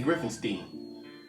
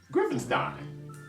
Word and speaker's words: Griffinstein: me for years and still say griffinstein foreign that's not my problem that they keep saying my name wrong the way that I tell them how to say it and I say it I say Griffin's dying Frankenstein and Einstein I gave you two